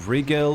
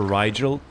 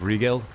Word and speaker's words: Rigel: I used to call her Riel, but I think it's pronounced Regal.